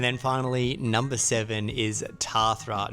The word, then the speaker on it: Tathra: And then finally, number seven is Tathra, not Tathra as we were told by so many people.